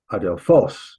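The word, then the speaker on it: ἀδελφός: adelphos. You saw that word before. It means brother, by the way. The accent here on the last syllable.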